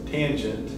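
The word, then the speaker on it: tanh: cosh hyperbolic cosine and fyi that's usually pronounced tange again i don't know why they added extra c or some extra stuff in there but i guess just to delineate it from regular tangent um but in pinch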